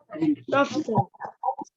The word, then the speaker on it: soften: Soften. Soften, yeah. T is silent, don't read it. So say soften clay.